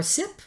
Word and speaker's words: CIP: carthaginian Etho Bist party or sip it's CIP CIP sip party right we got the